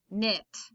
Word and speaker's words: knit: of words k n the k is the silent letter so this just makes an n sound no knit new knife knee okay